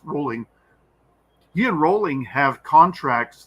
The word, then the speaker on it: Rowling: because he's he enrolling rolling yes it's still pronounced rolling he and Rowling have contracts that don't allow